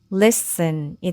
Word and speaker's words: listen: 그러면 여기을 넣어야 발음하기 쉽겠죠? 그러면이 단어는 listen이 되고 list은 듣다라는 뜻입니다.